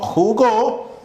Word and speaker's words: jugó: Al decir jugo, tenemos aquí a nuestro acento en ju. Y si digo jugó, tenemos nuestro acento en go.